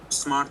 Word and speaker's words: স্মার্ট: আমি প্রোনাউন্সিয়েশনটা ঠিক করছি তো, মানে স্মর্ত তো? স্মার্ট তো আমার নাম।